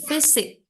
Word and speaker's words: physics: Oke, the physics. Ingat PH itu Physics. bacanya Oh yes, F ya. The physics.